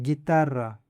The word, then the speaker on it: guitarra: Another example is guitarra. Guitarra means "guitar." Here again, the U is silent.